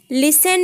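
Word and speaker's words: listen: लिसन में T silent रहेगा, यानी टी को आपको नहीं बोलना है, लिसन टू मी।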